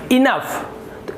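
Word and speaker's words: enough: रहा है आपको, तो यहाँ पर भी आपको फ उच्चारण करना है, फ। तो ये हो जाएगा आपका EN का इन, और यहाँ पे फ, तो ये हो गया इनफ।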